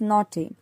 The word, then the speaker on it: naughty: restless naughty again here naughty gh is again silent here it is read as naughty growing max makes matters